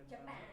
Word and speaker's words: Japan: What's the strong syllable in Japan? Which one? J or panap. Japan. Pan. Right. So, it's not the first one.